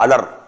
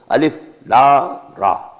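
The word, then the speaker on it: الر: These are pronounced separately and so they are the broken into pieces. Not pronounced as Alif Lam Mim Alam, no. Alif Lam Mim. Alif Lam Ra Alar, no. Alif Lam Ra.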